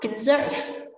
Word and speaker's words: conserve: Conserve, bảo tồn, trọng âm số 2 và từ water số 1.